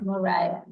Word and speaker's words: Moriah: Uh, and then it's also Moria, not Moria. Moriah.